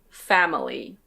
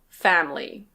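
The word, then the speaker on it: family: Yes, you can say "fam-i-ly". Fam-i-ly. And in fact, lots of native speakers do say it that way, but we also often say "fam-ly".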